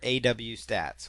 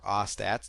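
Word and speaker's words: AWStats: something called webalizer or aw stats or aats depending on how you want to pronounce it but there's webalizer or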